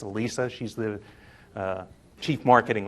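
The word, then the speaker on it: Elissa: SSA and everyone thinks her name should be pronounced Alyssa but it's Alisa she's the uh Chief marketing officer at tableau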